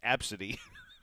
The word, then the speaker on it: ABCDE: a children's hospital and they were named ABCDE e pronounced absidy wow this goes back